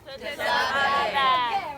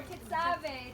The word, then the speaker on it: Tetzaveh: It's Parshat. Tetzaveh. Or Tetzaveh. It's okay to pronounce it either way, but if we don't say it 20 times, we forget by tomorrow.